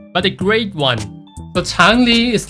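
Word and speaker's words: 长离: So it's gonna pronounce like Chang Li, Chang Li, Changli. So when you say the word Li, you have to drag it to the higher pitches.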